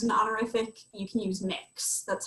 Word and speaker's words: Mx: need to use an honorific, you can use mix. That's how the MX dot is pronounced.